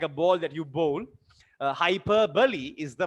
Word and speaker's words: hyperbole: in a like a ball that you bowl hyper bully is the right pronunciation sometimes in your school your teacher might